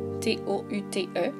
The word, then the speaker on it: tous: Quand « tout » est un déterminant, on ne prononce pas le « s » au pluriel. Je prononce donc « tout » au masculin singulier et pluriel et « toutes » au féminin singulier et pluriel.